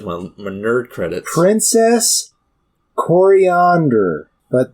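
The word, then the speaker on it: Koriand'r: my nerd credits princess coriander but not spelled like coriander like the spice yes it's spelled with K's and an apostrophe before the last R but I do believe it's still pronounced the same or at least I've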